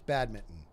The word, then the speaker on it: badminton: badminton it it's just it's badminton that's the right way to say it but when you say it correctly we're not used to pronouncing the N yeah bad can you